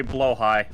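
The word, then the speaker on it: Blåhaj: one hush sorry blow high it's pronounced blow High oh yeah it's Norwegian or something I don't know the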